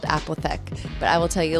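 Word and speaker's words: Apotheke: But we're at this place called Apothec. That's how you pronounce it. The bartender told me.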